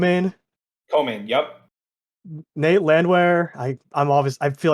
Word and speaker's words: Landwehr: was it come in cole man yup nate landwehr i i'm obviously i feel like i'm mispronouncing that name well you got it land